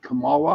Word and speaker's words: Kamala: Kamala?